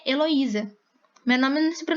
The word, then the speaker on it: Heloísa: é a sílaba tônica o acento tônico está no i porque meu nome se pronuncia heloísa meu nome não se